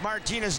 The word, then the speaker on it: Martina: But it's Martina, with the accent on the M, Navratilova.